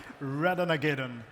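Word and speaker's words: Ratonhnhaké:ton: pronounce this character correctly redon is the way you pronounce it in uh in Mohawk and a funny story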